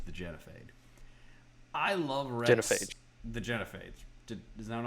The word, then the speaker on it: genophage: Genophage. The Genophage. Is that what I said? What did I say? It doesn't matter. You said Genophade.